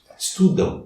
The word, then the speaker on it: estudam: Mas se as duas últimas letras forem AM, como estudam, o correto de pronúncia é um A seguido de um U brando. Estudam, é nasal. Mas tem o som do U. Não o som do M.